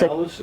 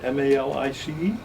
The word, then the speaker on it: Malus: It's Malus, M-A-L-I-C-E? M-A-L-U-S. Oh, Malus, okay. I pronounce it malice. Okay. I don't know if that's right.